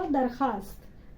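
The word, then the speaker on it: درخواست: फिर ये दरख्वास्त, आपको शायद नहीं बताई मैंने, दरख्वास्त देखो ऐसा, दरख्वास्त में दरख्वास्त लिखते हैं लेकिन पढ़ते क्या है इसको, दरखास्त।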